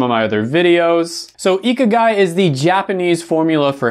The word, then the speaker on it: ikigai: got a lot of comments that i wasn't pronouncing this right when i mentioned it in some of my other videos so ikagai is the japanese formula for happiness and it